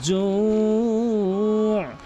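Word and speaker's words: جوع: আত'আমাহুম মিন জু', এখানে অধিকাংশ লোক জু বলে, মিন জু জু, এখানে কিন্তু তাড়াতাড়ি ছেড়ে দেয়। অবশ্যই এখানে 3 আলিফ টেনে পড়তে হবে যদি ওয়াকফ করেন, এবং ওয়াকফ না করলে 1 আলিফ টেনে পড়তে হবে।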